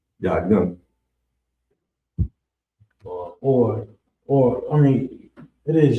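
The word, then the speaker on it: יין: Next up on the list is wine, and it's pronounced yayin. Yayin, yayin, yayin. We definitely need to know that. Young. You said what? Call. Yayin. Or I mean, it is your young, but you can pronounce it young.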